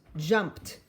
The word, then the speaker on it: jumped: e d oh now i wonder if it's going to have t d or id sound let's see jumped jumped jumped ooh sounds to me like t sound let's write it jump